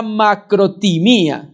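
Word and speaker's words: μακροθυμία: Y hay otra palabra, que es la que traduce acá para paciencia, que es la macrotimía. Se pronuncia así.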